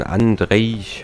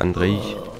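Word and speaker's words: Andrzej: Ja, von Andrei, oder so wird er ausgesprochen, glaube ich, Andrei Sapkowski erdacht wurde, ne, dieses Universum.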